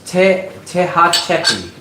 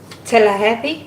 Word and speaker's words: Tehachapi: It's towards Tehachapi. Tallahassee?